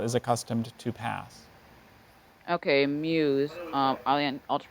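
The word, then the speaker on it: Meuse: does I don't see that given here okay Muse Muse just like in person the last 30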